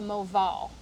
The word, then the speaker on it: Moval: here with a rahamanov diamond that's called the Moval so it's spelled m-o-v-a-l it is their specific cut it's